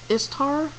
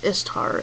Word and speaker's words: Ishtar: The next one is it's pronounced Istar, but it's spelled Ishtar. So, but it's Istar.